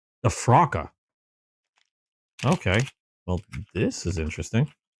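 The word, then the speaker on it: Frok: How do you pronounce it? Frocka.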